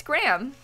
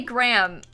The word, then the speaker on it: Graham: Thank you very much, Graham. That was not Raymond. Americans say Graham, Minnie. I know that, like, Dan from the UK says Graham. Graham. And I think that's stupid.